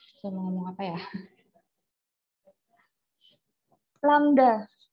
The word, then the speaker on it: lambda: Lambda. Ini bacanya lambda ya.